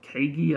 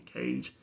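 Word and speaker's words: Kage: First some people call it Kagi. I believe it's supposed to be Cage.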